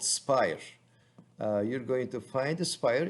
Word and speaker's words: Aspire: A is the silent A, so you're not hearing me wrong. It's pronounced Spire, even though it is spelled as ASPIRE.